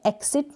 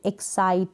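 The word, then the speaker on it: excite: अब देखें इन स्पेलिंग्स को जो प्रोनाउंस करेंगे, अब इसमें एक्सिट नहीं बोलते, एक्साइट, स का साउंड आ रहा है ना, एक्साइट, इसको मतलब सी को क नहीं बोलेंगे, ठीक है, एक्साइट, स,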